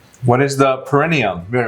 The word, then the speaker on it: perineum: What's the peritoneum? What's the peritoneum? It's perineum. You're You're saying it right. Perineum. You're just adding a T.